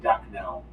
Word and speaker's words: Daknal: Next one is Ducknell. Duck now? One of those names? Sounds like duck now.